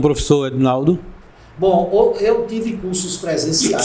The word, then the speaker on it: Ednaldo: EDNALDO, o meu Edinaldo D é mudo, Edinaldo, Buscou, já entra na página e tem as informações iniciais.